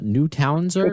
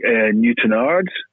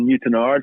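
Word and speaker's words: Newtownards: But my hometown is a town called Newtonards, so it's spelled N-E-W, new as in new, town as in Newtonards.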